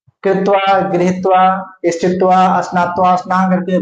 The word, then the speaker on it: क्त्वा: कत्वा को क नहीं बोला त बोला जाता है। क साइलेंट होगा उसमें से।